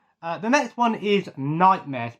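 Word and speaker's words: Knightmare: the next one is nightmares pronounced k n i nightmare um so this was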